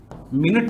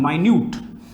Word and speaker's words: minute: अपने को, tiny, small, मिनट नहीं है, ये क्या है, माइन्यूट। स्पेलिंग सेम है, उच्चारण फर्क है, उच्चारण का फर्क है और मीनिंग का फर्क है।